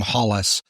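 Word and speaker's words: Holles: Pelum died after 11 years in office putting his elder brother in charge Thomas Pelum Holes or Thomas Pelum Hollis if you want to pronounce it the British way.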